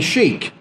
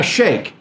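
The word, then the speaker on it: sheikh: identifies Abram as a a sheik or a Shaykh both pronunciations are possible it identifies him as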